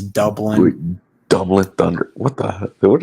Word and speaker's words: Dublin: said it wrong though he said like Dublin like it's Dublin not duin like oh my gosh oh